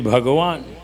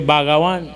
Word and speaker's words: Bhagawan: For instance, if you write Bhagawan in Hindi, you say Bhagawan. But when you mark Bhagawan in English, people say Bhagawan. Yeah. So the pronunciation is different.